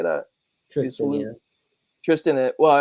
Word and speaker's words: Tristan: Tristan. Isolde? Yeah. Tristan. Well, I have my brother's name Tristan, so I know that name. What's the girl's name? Oh, I S where is it? thirsty, hot, and Tristan and Isol, Isil.